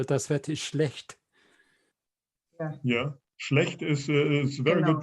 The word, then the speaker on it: schlecht: Yeah, schlecht is very Genau. good pronunciation, by the Yeah. way. That's very difficult to describe this CHT, which is schlecht.